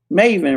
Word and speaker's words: maven: Pronounced long A sound. Maven, right?